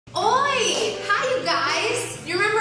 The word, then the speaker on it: oi: How do you say oi?